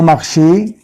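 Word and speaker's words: marché: لو مارشي، لو مارشان، طبعا واضحة جدا لما اقول مارشي الاو عليها اكسون في اخر الكلمة تتنطق اي.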